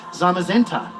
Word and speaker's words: Zamazenta: here oh okay okay I've heard this one mispronounced to the nth degree but I think a really easy way to remember is it's uh it's uh I guess brother Pokemon right zamazenta we don't say zenta right okay yeah that's